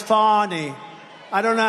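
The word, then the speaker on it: Fani: f a n i fny you have to pronounce it fonny is called Fanny you have to pronounce fonnie I don't know how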